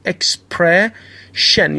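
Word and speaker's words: expression: خب و اگر یک ایون با آخرش اضافه کنیم، دقت کنید اس آی به صورت ش تلفظ میشه در کلمه بعدی، اکسپرشن یعنی بیان یا اصطلاح.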